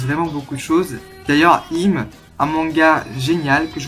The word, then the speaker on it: Im: Ensuite, toujours à la suite, j'ai pris le tome 6 de Im ou Aim, ça dépend comment les autres prononcent. Moi je prononce Im parce que Imhotep, sinon voilà.